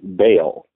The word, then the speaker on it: Baal: the bottom of the wheel, underneath, it wrote B-A-A-L. Now that's a name that immediately when I saw that, I knew that it was something big, because that's a name, Baal, it's pronounced Baal, is a name that it conveys